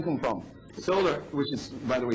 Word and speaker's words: Soler: Solar, which is, by the way, spelled S-O-L-E-R, because many people tend to spell it S-O-L-A-R, which is okay with us anyway.